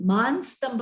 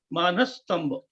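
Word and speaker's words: मानस्तंभ: यह एक थोड़ा सा एक मिनट, यहाँ आप जो मानस स्तंभ का उच्चारण कर रहे हैं, वो न जो है वो पूर्ण रूप से उच्चारण करना है, और आगे स्तंभ यो जो है जोड़ाक्षर आया है, तो न के ऊपर जोर देना चाहिए, तो उसका उच्चारण ऐसा होना चाहिए, मानस स्तंभ।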